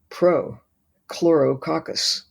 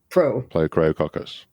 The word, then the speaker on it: Prochlorococcus: It's Prochlorococcus. You can say it. Yeah. Prochlorococcus.